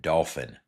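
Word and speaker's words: Dauphin: Remember, Dolphin Island, for those not on the coast, is spelled D A U P H I N. Dolphin.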